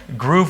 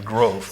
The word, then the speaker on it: Grove: me huge and and groove was just a common mispronunciation of my last name growth so so huge from